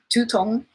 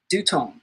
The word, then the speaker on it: 두통: One, tutong should be pronounced as dutong with a clear D sound, not tu.